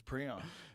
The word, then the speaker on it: prion: he's like we'll call it this and we'll pronounce it this way okay so it's preon it's now I'm now I'm trying to I